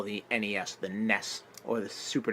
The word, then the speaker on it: NES: The way to pronounce that system, the letters N, the letters E, and the letters S, is NES. No. Thank you. No. Thank you. It's NES. NES. Because it's an acronym.